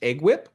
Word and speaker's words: EGWP: Some of them even mention employer group waiver plans, or EGWP, sometimes pronounced EGWIP.